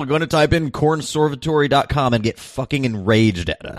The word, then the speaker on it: Cornservatory: o r y so like like Conservatory with an r in the first syllable right but instead of con it's corn corn yes yeah so um